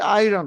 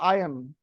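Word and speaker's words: iron: যেমন ওরা আমরা বলি আয়রন, ওরা বলে আয়ন, আরটা বলে না, তো আপনি তো আয়ন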